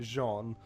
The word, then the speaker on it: Jean: it's not the big character um his name is spelled Jean but it's like Jean uh no he's um he was uh he